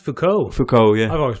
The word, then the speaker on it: Foucault: Is his name pronounced Foucault? Foucault, yeah.